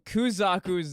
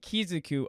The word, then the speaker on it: Kuzaku: know I've been mispronouncing I know I've been mispronouncing kuzaku's name the entire video I'm sorry I'm dyslexic and I pronounce it kizuku I don't know why